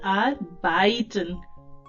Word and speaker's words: arbeiten: आर बाइटन.